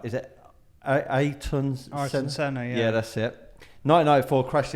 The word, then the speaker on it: Ayrton Senna: I can't always pronounce his name right. Is it Ayrton Senna?